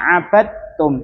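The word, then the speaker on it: عبدتم: Terus kemudian ma abadtum itu ada dal sukun kemudian setelahnya ta. Nah di situ cara membacanya langsung masuk ke huruf tanya-nya ya. Langsung ke makhrij makhrajnya ta. Ma abad tumbi sareng-sareng ma abadtum. 1 2 3. Ma abadum. Jadi ee qalqalah dalnya itu tidak terlihat.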